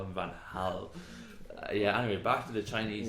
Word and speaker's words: Van Gaal: I've been watching too much matches of the day and hearing Louis van Gaal. That annoys me. There's a G in it.